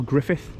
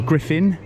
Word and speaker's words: Griffin: It's Park Aral Griffith, or Griffin, I should say.